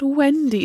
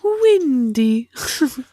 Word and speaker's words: Wendy: say her name because it's not Wendy it's windy well I don't know